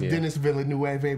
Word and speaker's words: Denis Villeneuve: I thought it was Denis Villeneuve, but it's not him. Okay. But that's how it's pronounced.